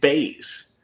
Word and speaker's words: Bays: And then Ways rhymes with Bays, right?